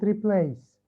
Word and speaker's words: replace: How many syllables does it have? Replace. Replace. Replace. انتبه مش بالضرورة يكون طويل أو قصير. Replace. Replace. انتبه كيف عم بقرأها ببين معاك. Replace. Replace. Replace. الحقيقة it has 2 syllables.